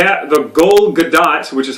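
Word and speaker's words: Gal Gadot: you know devastated by it the G the gold gat which is how it's pronounced actually the goad do casting I was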